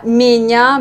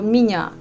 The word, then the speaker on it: меня: Moi, je prononce plutôt pas меня, mais je dis plutôt меня.